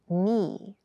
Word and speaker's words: knee: keep in mind yes this word begins with a K in spelling but the pronunciation is knee the boy fell and